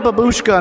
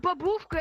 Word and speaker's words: babushka: I know what babushka means. Baboo Tovarish, tovarish. Babushka means grandma. Duh. No, it's it's not babushka. It's babushka.